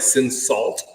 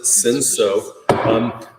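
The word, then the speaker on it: Cinsault: It looks like Sin Salt, but we pronounce it Sinso.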